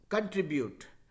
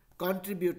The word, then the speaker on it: contribute: सी ओ N cone नहीं होके कन होता है, ठीक है। तो कंट्रीब्यूट, कॉन्ट्रीब्यूट नहीं है, ठीक है।